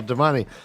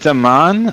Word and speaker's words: damane: is it Daman or Damane? I think Head canon. Okay. That's what Damani. he says. My head canon has always been Damani. Okay. I don't pronounce the E. I say Damani too, actually.